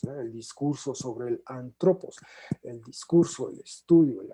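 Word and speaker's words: ἄνθρωπος: Un término que está usando él en griego se pronuncia antropos.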